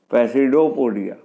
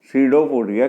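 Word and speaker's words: pseudopodia: कुछ प्रोजेक्शन निकालता है, कॉल्ड पैसिडोपोडिया, जिन्हें सीडोपोडिया कहते हैं। पी यहाँ साइलेंट है।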